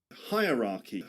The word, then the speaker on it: hierarchy: Three parts which rhyme with hierarchy. Follow for more tips. All right, there we go. So yeah that's that's the pronunciation of this word you get you you've that's hierarchy hierarchy and the hack here the trick is to pretend that the first syllable the first part is higher higher Yeah.